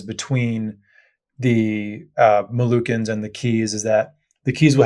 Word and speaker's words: Kei: And Key Island is spelled Kei.